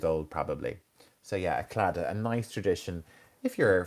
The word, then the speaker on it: Claddagh: So clada, clada, Claddagh, clada. So we don't pronounce the G and the H.